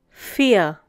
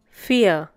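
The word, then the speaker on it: vier: the next one is fear once again fear the pronunciation is similar to the English word fear we have already learned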